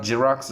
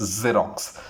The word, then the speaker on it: Xerox: It's not Xerox, not J, it's Xerox. Xerox. Z sound has to come whenever you pronounce this word.